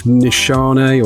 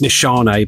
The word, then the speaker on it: Nishane: is a clone of nishana or nishane however you pronounce that apparently it's nishane but I can't help saying machine the Shane Neffs right